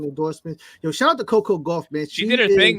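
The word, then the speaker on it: Coco Gauff: Coco Goff.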